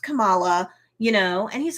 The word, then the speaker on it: Kamala: hurt she's all like no no no it's pronounced kamala you know and he's like oh okay so